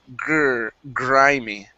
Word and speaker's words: grimy: I want to practice the gr instead of grimy. It's grimy. Grimy.